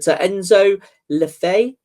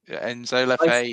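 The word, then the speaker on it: Enzo Le Fée: You did say at the time I remember, but Enzo Lefay. Enzo Lefay.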